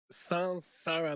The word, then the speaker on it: saṃsāra: 应该是， is sansara, like S-A-N, not S-A-M.